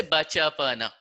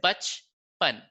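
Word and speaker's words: बचपन: You don't say bacha pana. You will say bach pan. So you deleted the after cha and na, but pronounced it after ba and pa.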